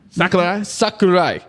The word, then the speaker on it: Sakurai: so I apologize, but I think it's Kitao Sakurai. And I know I probably messed up the pronunciation, but it might be pronounced Sakurai, but you're there we go. You're good. You're there. Say that again. Sakurai.